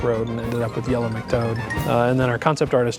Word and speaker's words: Yellow McToad: And in case you didn't get that, it's Yellow McToad, which happens to rhyme with Yellow Brick Road, but totally different thing.